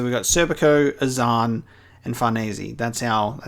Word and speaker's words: Farnese: But it's more of apparently it's like more of like an Italian style name, so Farnese is how you say it. And so we got Serpico, Azan, and Farnese.